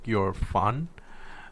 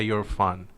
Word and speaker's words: Erfan: you can say like you're fun like you're a fun guy but just say you're fun but quick and that's how you pronounce my name so you're fun yeah um so I'm